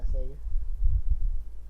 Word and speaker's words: Sega: Sega.